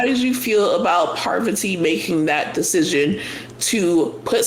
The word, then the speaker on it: Parvati: Parvati. Parvati. And I'm glad she said it like that because I'm like, she needed to break it down for me because I was saying it wrong this whole time.